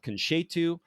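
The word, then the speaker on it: Conceito: So this is the her winery is called Ketu. That is c o n c ei t o. The ei is kind of an a pronunciation in Portuguese.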